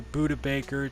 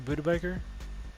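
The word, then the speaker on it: Budda Baker: A first next year and a second this year for Buda Baker to replace our free safety because we have already a replacement for him.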